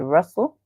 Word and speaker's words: rustle: In the word rustle, where the T is silent, so the T in the word rustle is silent.